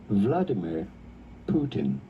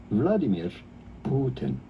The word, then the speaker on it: Vladimir Putin: So his name is normally pronounced in English Vladimir Putin. Vladimir Putin. In Russian, though, it is generally pronounced something like Vladimir Putin.